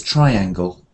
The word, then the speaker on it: triangle: so triangle yeah triangle it's not tree it's triangle okay triang and what